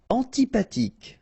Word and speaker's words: antipathique: Antipathique. So remember, this H doesn't exist phonetically, so antipathique.